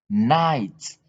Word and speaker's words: night: Hi, night. We don't read. You don't pronounce this G and H, but you pronounce only the I here and the T that end the sentence.